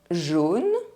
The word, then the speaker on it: jaune: A-U and E-A-U are pronounced O. Jaune, O.